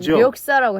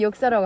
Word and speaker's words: 역사: 저희는 이자를 리자를 발음하잖아요. 역사예. 력사라고 해요. 리역사. 근데 역사라고 하잖아요.